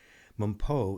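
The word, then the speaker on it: Mpho: Mumpo is spelled M-P-H-O, Journey with Mumpo.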